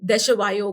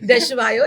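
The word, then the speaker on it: Desjoyaux: तो मुझे ये स्विमिंग पूल कंपनी थी देशवायो करके, इसका नाम भी प्रोनाउंस करना बहुत मुश्किल है। इट्स DESJYAUX, ओके, है ना? ठीक है, हाँ, समझा नहीं बट ठीक है। देशवायो, इट्स अ हाँ।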